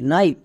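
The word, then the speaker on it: knife: এটা আমরা সবাই জানি শেষেই সাইলেন্ট থাকে তাহলে এবার একসঙ্গে উচ্চারণ করো কে এন আই এফই নাইফ নাইফ মানে ছড়ি নেক্সট আরেকটি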